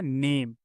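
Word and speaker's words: name: तो क्या बन गया, नेम। ठीक है, और ई तो साइलेंट होता है लास्ट में, तो इसी तरह क्या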